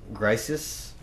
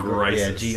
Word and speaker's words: Grisis: pronouncing this right, but I think it's pronounced Grisis. Sure, whatever. Grisis. Not Crisis, but no, Grisis. Yeah, GR. Yep.